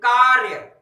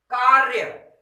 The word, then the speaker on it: कार्य: अगर कहना है कैसे कहेंगे कार्य। देखिए इस रा का उच्चारण बहुत कम समय में और वो भी रगड़ के साथ, मुंह में रगड़ के साथ, इसीलिए तो इसको रेफ रा कहते हैं। कार्य क्या कहेंगे, कार्य।